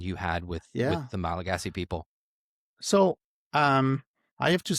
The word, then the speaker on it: Malagasy: Malagasy, Malaga yeah, Malagasy.